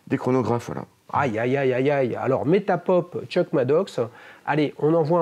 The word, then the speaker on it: Metapop: Je suis écoutable sur le site Metapop. Metapop, comme ça se prononce?